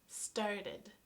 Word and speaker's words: started: StartID, this is the T sound, starT, so this is the one where we add an extra syllable.